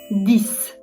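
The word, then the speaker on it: dix: 10 dis. Dis. Yine aynı şekilde X s gibi okundu.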